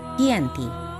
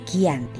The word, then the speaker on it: Giyanti: yakni di desa Janti dalam pelafalan Belanda ia tersebut sebagai Gianti dan secara tertulis ia terbaca sebagai kiyanti di tempat tersebut sekarang